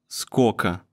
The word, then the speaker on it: скока: Сколько becomes скока. And since the last O sounds like A anyway, we spell it like this.